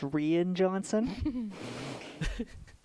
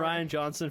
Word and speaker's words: Rian Johnson: And I believe that's pronounced Rian Johnson.